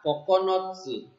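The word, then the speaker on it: 九つ: Nah, kanji angka 9 ini kungyominya adalah kokonotsu.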